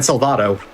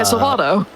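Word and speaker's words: Salvato: Dan for uh or sorry Dan Salvado. Oh yeah, Salvado.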